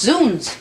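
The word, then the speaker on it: zounds: It's pronounced zones.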